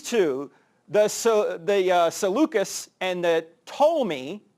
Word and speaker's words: Ptolemy: And these two, the Seleucus and the Ptolemy, the P is silent, these two, which really